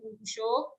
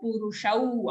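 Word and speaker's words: पुरुषौ: Dvavimau, au ki matra, don't say dvavimau purusho. Dvavimau purushau, again au ki matra.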